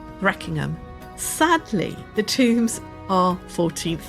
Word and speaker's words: Threkingham: These kings were then buried hurriedly and they gave the village its name three king Ham pronounced by the locals Reckingham.